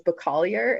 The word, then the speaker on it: Bacalier: way to say that, is Bacalier. It's Slovak, and like it's totally phonetic, but people would mispronounce it like crazy.